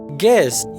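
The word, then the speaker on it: guess: गेस्ट यानी मेहमान, यहाँ पर यू जो है वो साइलेंट है, यानी साख्त हुरूफ है। गैस यानी अंदाजा लगाओ, यहाँ पर यू जो है ये साइलेंट है।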